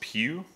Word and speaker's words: Pugh: So it's pronounced Pugh, so it's the Pugh 2, like a church pew or, pew pew, whatever you want to do.